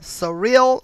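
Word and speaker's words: Cyrille: the numbers wow okay now this name surreal is what i'm assuming but i will spell it so you can make your own judgment okay c-y-r-i-l-l-e surreal regis all right february 9th 1958 to january 14 2018.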